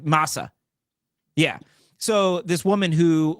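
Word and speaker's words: Mahsa: S thumbs up am I saying it right Masa yeah so this woman who was beaten to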